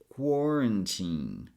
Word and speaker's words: quarantine: But what I want you to do here is to pronounce this last syllable as teen. The same way we say teenager. So it's quarantine.